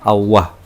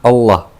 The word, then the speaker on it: Allah: Yang pertama Allah misalkan yang pertama Allah, yang kedua Allah, yang ketiga Allah, yang keempat Allah, yang kelima Allah, yang keenam Allah. Nah, itu ini cara bacaan saya. Kalau mungkin ee bisa melihat langsung ini enam cara ini berbeda semua. Ini yang benar hanya yang terakhir.